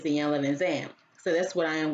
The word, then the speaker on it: Iyanla Vanzant: Some people call her Iyanla Vanzant, but if I'm correct, I remember her saying that the way you pronounce her name is Iyanla Vanzant.